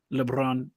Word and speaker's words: Lebrón: Yeah, it's a French Italian, so it's supposed to be pronounced Lebron, but again, I don't even harp on it.